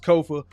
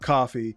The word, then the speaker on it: Kofa: I have been your humble host, Kofa, Kofa, not coffee, not, not Kofi, or any variation thereof. Kofa rhymes with sofa.